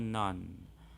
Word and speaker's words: known: Nah, kalau kata kerja kedua bacanya knew. Ketiga non.